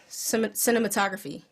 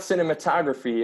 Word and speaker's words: cinematograph: Cinematography. Or cinematographer? Cinematograph. Cinematograph. Cinematograph. Graph. The time of my Greg. Whatever. It's not cinematography. It's cinematograph. It's a graph?